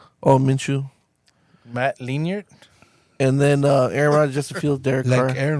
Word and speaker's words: Minshew: How do you guys pronounce it? Minshew. Oh, Minshew.